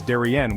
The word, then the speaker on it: de rien: When someone thanks you, the standard response is de rien, which literally means it's nothing. De is pronounced like duh, and rien rhymes with bien.